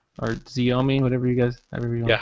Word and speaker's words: Xiaomi: I think it's like Show Me, right? Yeah, in like Chinese would be Xiaomi. In American, it's like Xiaomi.